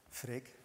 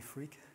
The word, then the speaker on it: Freek: the one that is called Frick it's the first time that people don't mispronounce my name normally they call me freak this is Johan it's